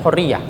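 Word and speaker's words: حرية: Innal hurriyah, kalau menyebutnya mereka hurri, bukan hurriyah. Kalau bacanya kan hurriyah. Tapi kalau dialeknya orang Syam, innal hurriyah.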